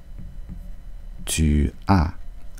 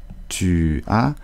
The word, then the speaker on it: tu as: Ici, on ne dit pas tu as, mais on dit souvent ta.